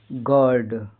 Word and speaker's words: gird: जैसे क्या है, GIRD, I के बाद क्या आ रहा है, R आ रहा है। इसके बाद क्या है, कॉन्सोनेंट हो तो इसका उच्चारण अ आधा अ होता है। जैसे गर्ड।